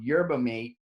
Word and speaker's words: yerba mate: was energy drinks called yerba mate, Mm. what I thought it was called, yerba Is mate. it not the same thing? Yerba mate is how you say it.